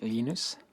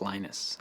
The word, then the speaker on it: Linus: i speak swedish it's heinous when speak Finnish it's Lino's when I speak English its Linus and I really don't care how people Prowse my name but Linux is always